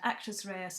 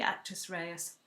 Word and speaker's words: actus reus: Raya is spelled m-e-n-s new word Rea and actress Reyes is spelled actus new word r-e-u-s okay so UK